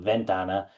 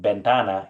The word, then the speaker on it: ventana: Uh, but I'm produc I'm pronouncing it like an like a English- speaking American saying ventana instead of a Spanish speaker might it might sound more like bentana even though it's spelled with a v.